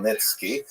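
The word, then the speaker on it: Khmelnytsky: And it's sometimes spelled with in Roman characters with the spelling making it look something like it's actually pronounced Nitski with a guttural at the beginning.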